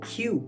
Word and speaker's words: queue: Alors là c'est pas forcément évident, il se prononce pas comme on le lit. On va dire ça queue.